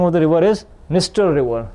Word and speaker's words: Dniester: Dniester River, D is silent, guys, as you can see, Dniester River.